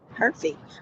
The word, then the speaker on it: Hervey: Is that how you Her pronounce her last name? Hervey. Hervey.